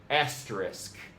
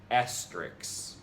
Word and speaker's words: asterisk: It's true to its K. Thus, the correct pronunciation is asterisk, not Asterix.